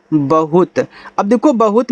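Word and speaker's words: bahut: बी एच यू टी बहुत।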